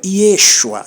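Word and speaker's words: Yeshua: no texto hebraico o acento é aqui, ó. Não é Yesua, é Yesua. Yesua, tá? Quando não tá aqui, tá embaixo essa tônica, tá bom? Mas é sempre aqui, ó. Iexua. Essa é a pronúncia do nome de Jesus.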